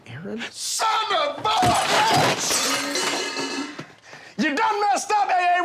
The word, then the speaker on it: Aaron: you say it the first time i said ay-ay-ron because it's pronounced Aaron you done messed up ay-ay ron now take